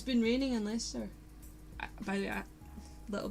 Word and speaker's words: Leicester: Can you tell I didn't live near these towns, otherwise I'll probably be able to pronounce them. Leicester. That's it, Leicester.